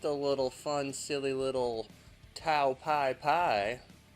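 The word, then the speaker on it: Tao Pai Pai: Just a little fun, silly little Tao Pai, which is the Japanese way to say his name. But in the American version, they call him General Tao or Mercenary Tao.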